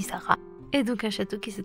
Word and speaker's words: Sarraz: avec un z et je sais que beaucoup de francophones serait un petit peu tentés de dire ça rase mais non dit sarah et d'aucuns château qui